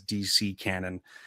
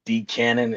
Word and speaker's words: DCANON: cuz I always thought it was DC cannon until typing it out. Uh, it's just decannon.